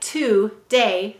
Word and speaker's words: today: let's read it today notice we often say today with a schwa sound any vowel may say uh or i in an unstressed syllable or an unstressed word the next word is